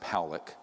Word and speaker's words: Pollack: This man, William Pollack, his name is pronounced Pollack, was a man, very good man, who gave me an interview only to be released posthumously after he died.